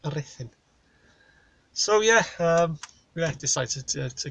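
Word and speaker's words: Ruthin: It's pronounced Rhuthyn.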